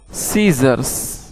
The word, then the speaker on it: scissors: SCISSORS, सीजर्स। सीजर्स का माना होता है कैंची। दोस्तों, इन लफ्ज़ों में सी साइलेंट है।